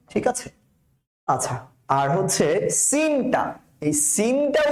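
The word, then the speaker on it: س: তাহলে প্রথমটা মৌমাছির মতন আওয়াজ, জা জা জা, তারপরেরটা সিন সিন সিন, চিকন করে আওয়াজ বের হবে, টায়ার পাঞ্চের যেরকম আওয়াজ হয় সিন।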